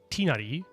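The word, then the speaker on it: Tighnari: Da also, how do you pronounce Tinari? Is it like tinari?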